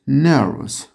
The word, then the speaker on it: nervous: She is nervous. Evet. Bir gerginlik var orada arkadaşlar. Nervous diyoruz bakın. Fıs. Bunu dikkat edelim. O vo, us yazılan şey fıs diye okunur.